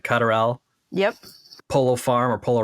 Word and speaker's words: Lutterel: I'm pronouncing it right. Lutterel.